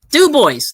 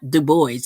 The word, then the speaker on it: Du Bois: Du Bois. No, it's not Du Bois. It's Du Bois. That's how they say it.